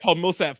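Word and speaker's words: Paul Millsap: it he say it right though he said Paul Milsap oh that is true you did not say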